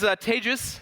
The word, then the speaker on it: Tejas: Hi, my name is Tejas, that's pronounced like advantageous for those of you who struggle with Tejas, it means roof tiles in Spanish.